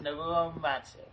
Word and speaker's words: Nobuo Uematsu: I never really got much into Nobuo Uematsu, that's how you pronounce it? Yes, Nobuo Uematsu.